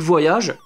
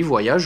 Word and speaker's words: Voyage: Et puis Fantastic Voyage. Oui, Voyage, oui, je le prononce à la française parce que je fais ce que je veux, merde.